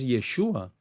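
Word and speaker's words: ישוע: que se llamara así la verdadera forma de del letrear y pronunciar el nombre hebreo de Jesús es yeshua no yahua eh uno de los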